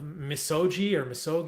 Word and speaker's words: Misogi: So I thought, let's start with one of my favorite parts of your book is this Japanese story of Misogi.